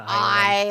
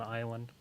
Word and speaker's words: Isla: It's like an island. Isle. The S is silent, like an island.